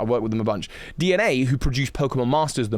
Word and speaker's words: DeNA: So I did a lot of work with DENA is how it's spelled. DNA. Why am I confused about that? I worked with them a bunch. DNA, who produced Pokemon Masters, the mobile game.